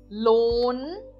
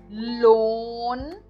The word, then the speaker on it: Lohn: E eu não pronuncio o H também aqui nessa palavra, mas eu dou uma ênfase maior no O. Para isso que serve o H dentro das sílabas, né? Então eu digo loan. O H ele dá a ideia de prolongar o som de uma letra.